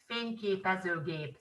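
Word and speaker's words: fényképezőgép: very similar but then in hungarian it's finke peso gabe so that's how you say it in hungarian and then there is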